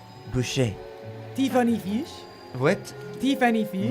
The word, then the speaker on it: Boucher: It's, in a French accent, Maria Boucher.